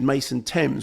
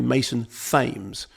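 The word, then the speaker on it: Mason Thames: in uh Regretting You, I said Mason Tames, which is how it's spelled, but apparently Fames. Apparently Mason Fames.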